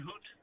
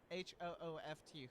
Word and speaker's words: Hooft: Van Hoot? Yep. Did I say it right? Hooft. H-O-O-F-T.